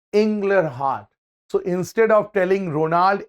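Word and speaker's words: Inglehart: Ronald inler har see his full name is inler heart you can pronounce it in your own way it's inler heart so instead of telling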